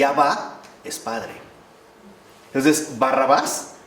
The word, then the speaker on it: Barrabás: Entonces, Barrabás, que nosotros pronunciamos de manera corrida, en realidad es Barrabá.